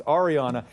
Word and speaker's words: Ariana: I keep wanting to put the A in the front. It's Ariana.